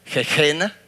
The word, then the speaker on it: Gehenna: En el tiempo de Jesús se pronunciaba como Gehenna, pero es Geena y se pronunciaba como Gehenna.